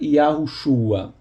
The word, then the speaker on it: Yahushua: Na verdade, apesar do texto massorético falar Yehoshua, parece que antigamente a pronúncia correta era Yahushua.